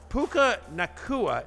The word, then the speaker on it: Puka Nacua: Puka Nacua, is that how I say his name, Connor?